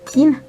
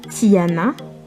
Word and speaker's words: Tiana: Il y a également Tina, Tina, un autre prénom mixte qui se lit donc Tina, et pas Tiana, même si ça s'écrit Tiana, quand on le prononce en malgache, on dit Tin.